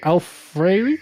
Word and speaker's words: Alfieri: So Dino Alfieri? How do you pronounce it?